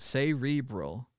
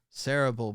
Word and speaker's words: cerebral: This word is pronounced cerebral in all contexts except once. The phrase cerebral palsy, which is most often pronounced cerebral palsy. This exception derives from an old pronunciation of cerebral. In the early 1900s, the preference was for this first syllable to be accented.